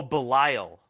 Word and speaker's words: Belial: Oh, Belial.